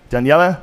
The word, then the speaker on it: Daniele: show's over thank you Daniela danela I say it right you got it Daniela B my friend